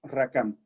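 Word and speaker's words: רקם: Ahora la palabra entretejer que usa aquí en hebreo es rakam. Se escribe R-A-Q-A-M, rakam.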